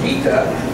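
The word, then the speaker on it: Gita: this is a 12-year-old and her name is G and it's spelled g i t a it actually is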